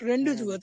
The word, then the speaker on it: rendezvous: go through the spelling of rendezvous, that is RENDZVOUS. If a person Mm-hmm. who is unaware about the word, he will pronounce it rendezvous. But that is not rendezvous; it's a rendezvous.